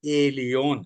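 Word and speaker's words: Elyon: यहां पर एल एलियोन spelling, L आपकी समझ में आ गया, एल ई एल, एलियोन ई एल वाई ओ एन, ई एल वाई ओ एन।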